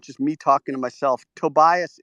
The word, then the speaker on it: Tobias: I live in Mexico but I'm German that's why my name is pronounced Tobias or Toby is fine oh good and talk